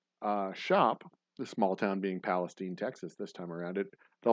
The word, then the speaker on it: Palestine: And then Saturday, I'm going to be in Palestine, Texas. Not Palestine, Texas, mind you. It's Palestine. We pronounce it that way.